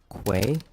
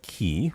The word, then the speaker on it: quay: It's pronounced quay. Uh, say it with me now. Q. Quay. Quay. Not key.